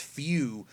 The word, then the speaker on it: Fu: No, it's actually pronounced Few. I thought it was Fu also. I actually thought it was Fu. But I checked with Herms, and his name is indeed pronounced Few. Now, if in the dub they call it Fu, well, that's a mistake.